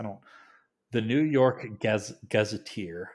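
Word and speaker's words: Gazetteer: the New York Gaz gazeteer I think like Gazette but gazeteer whatever New York gazeteer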